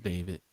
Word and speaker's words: D4vd: about David or D4 VD um a couple of weeks ago isn't it's David pronounced David. Um but the way you doing because it's not just a regular David.